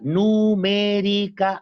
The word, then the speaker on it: numéricas: una de las habilidades numéricas numéricas acento en la e pregunte por esa palabra